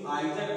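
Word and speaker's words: either: ये लेकिन जो आइदर आर है नाइदर आर, यही ब्रिटिश इंग्लिश है, और नीदर और ईदर जो है वो अमेरिकन इंग्लिश का प्रोनाउंसिएशन है।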